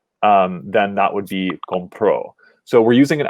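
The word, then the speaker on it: compró: in the past um then that would be con pro so we're using an accent marked here to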